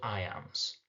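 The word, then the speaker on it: iamb: by a stressed syllable those are called I AMS and again the sound I am will reveal what that meter will be I am I am I am this time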